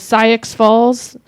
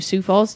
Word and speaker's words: Sioux Falls: April 17th, they're in, oh man, I don't know how to say this, Syx Falls, South Dakota, at Sioux the Falls. Total Drag. Thank you, Sioux Falls.